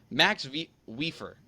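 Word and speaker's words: Mats Wieffer: I'm trying I always struggle with the same Max weer that's how you're supposed to pronounce yeah that's how you're pron I nailed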